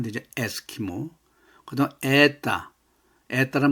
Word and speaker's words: это: 에스키모 그다 에따 에따란 말 나옵니다. 디스라 이것이 나타니다. 에따 근데 온데 아로 읽었습니다. 요건 이제 주로 이제 강세가 없을 때 우다니가 없을 때는 오바 발음이 아로 한다 겁니다.